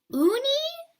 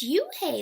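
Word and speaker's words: Unhei: a girl asked oh hi said hoon hi Unni the girl was scratching up her face Oh Unni know when I corrected it spelled UNH gee I it's pronounced you okay oh it's you hey the boy said like you hey what about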